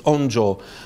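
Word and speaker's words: 音声: Musical voice is a difficult translation, but in Chinese it's onjo, I mean, Japanese pronunciation of the Chinese is onjo, which is sound and voice.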